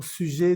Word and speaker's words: sujet: Aquí tenemos una ET, como lo vemos aquí también en lo amarillo. Entonces, esto se va a pronunciar E. Sujet, sujet, au sujet d'un problème avec un ordinateur que j'ai acheté.